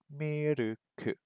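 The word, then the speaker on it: ミルク: And this word is pronounced miruku.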